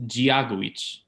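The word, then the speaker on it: Dia duit: in the writing so hello is gia guich and the g is sort of like it's it's hard for even for me to do it it's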